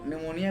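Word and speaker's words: pneumonia: बन गए निमो लेकिन निमोनिया के बारे में बताना चाहता हूं इसमें साइलेंट जो प इसकी स्पेलिंग प से शुरुआत होती है जैसे हमारे दादा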